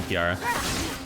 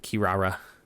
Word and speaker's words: Kirara: Rock okay Jesus Christ I keep saying your name wrong yeah it's very unnatural Kirara had I know when